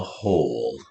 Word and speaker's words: hole: Whole is a one-syllable word. O, o. You hopefully already caught the name sound of the ah, o, oo, right? Saying o, its name sound. Ah, o, oo. There's a silent E.